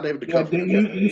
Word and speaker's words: Duchovny: No, not David Yeah, Duchovny.